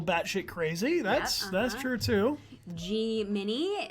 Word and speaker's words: Gemini: Gemini is the actual pronunciation, not Gemini. Yes, right. It's not pronounced Gemini. Make sure you tell everyone that it's Gemini.